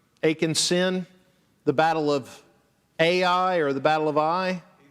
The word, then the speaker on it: Ai: So God told the people, you're supposed to wipe Ai out, or Ai is really how it's pronounced.